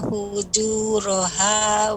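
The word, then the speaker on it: فُجُورَهَا: Ya, ketika mengucap ra, fujura lebih ditebalkan. Kemudian qafnya ketika qalqalah juga ditebalkan, wa taqwaha fujura ra. Ya, silakan ulangi Ibu. Fa alhamaha Fa'alhamaha fujuraha wa taqwaha.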